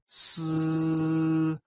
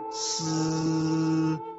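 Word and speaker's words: 呬: The pronunciation of s, a hissing sound. The pronunciation is assisted by the teeth.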